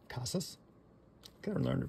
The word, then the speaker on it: Casas: out of 250 so there you go another casses Casas I learn to pronounce his name correctly all right the another